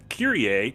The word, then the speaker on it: Kyrie: Hiya, I caught up with the first VOD over the week, and to answer a prior question, Kyrie is pronounced that way in Latin. It means Lord.